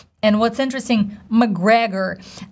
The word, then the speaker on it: McGregor: A lot of people think that we gotta say Mac Gregor, but if you see in the transcription, it's very clear. It's just literally McGregor, McGregor, McGregor. So simple, stressing the second syllable, McGregor.